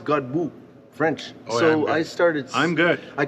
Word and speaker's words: Godbout: with a gentleman by the name of God Buu that's how you pronounce it yeah well that's what I thought